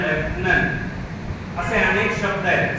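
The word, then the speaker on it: lieutenant: कोणालाही सांगता आलं नाही त्याचं स्पेलिंग आहे एल आय डी यु टी इ एन ए एन टी ल्युटेनंट असा उच्चार नाही त्याचा त्याचा उच्चार आहे लेफ्टनंट असे अनेक शब्द आहेत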